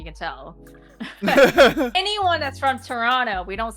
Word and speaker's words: Toronto: You can tell anyone that's from Toronto, we don't say Toronto. It's Toronto. Toronto. Yeah. The T is silent before Quebec French and the Cajun.